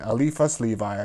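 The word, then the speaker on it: Eliphas Lévi: was another elephant's link the alifa's disco and alifa levi i said slowly it's spelled with an eye instead of an e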